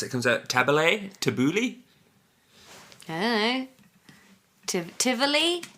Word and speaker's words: Tabbouleh: Tabbouleh. That's how you We're pronounce it.